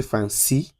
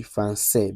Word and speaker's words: français: And whenever you see that C, it turns that C from C to S. So, let's take from Let's take the example. Instead of say "français" or "français", say say "français". Say say say. So, you can't say "franci" "franci". No, it should be "français" because that accent mark